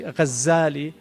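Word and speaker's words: غزّالي: Some say his name is actually Ghazali with a shadda from Ghazal, which is a carder of wool, which is what his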